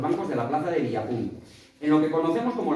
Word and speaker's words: Villapún: Curioso, pero que muy curioso el nombre del pueblo, Villapún, comenta haciendo especial énfasis en la última sílaba.